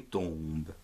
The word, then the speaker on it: tombe: le mot tombe, une tombe. Alors, T, O, M, ton, B, E, be, tombe.